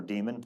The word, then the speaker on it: daemon: implies running what's called the docker daemon or demon being how you say it and the demon is